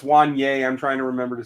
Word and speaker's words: Wanya: Yeah, DC Hawk, we're working on pronunciations, man. Still draft weekend. We're going to get there. I know it's Wanye.